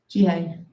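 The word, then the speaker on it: Jeehay: Jihai.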